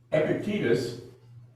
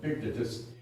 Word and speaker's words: Epictetus: mentions but otherwise we have nothing from him Epictetus oh my classical scholar friends tell me should be pronounced Epictetus but I find that difficult to